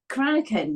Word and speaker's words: Cranachan: Did I pronounce it right? Cranachan? Cranachan, yes.